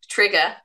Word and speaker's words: TRIGA: So TRIGA. TRIGA. Okay. TRIGA is that. Yep. So that's how you say it.